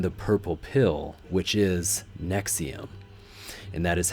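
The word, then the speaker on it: NXIVM: is they own the purple pill which is nexium and that is how you pronounce NX IV m in connection with Keith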